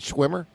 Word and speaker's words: Schwimmer: David Schwimmer. Schwimmer. Oh yeah. What is his name? I think it's David Schwmer.